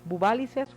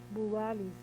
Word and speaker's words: Buváliz: hablado sobre el presupuesto, se ha mencionado Buválices, o ¿cómo se dice? Buváliz. Buváliz. Se menciona que Buváliz, tengo por aquí el contrato, si no me...